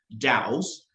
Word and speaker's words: DAO: yeah we're here to talk about um both Dows uh as well as a little bit about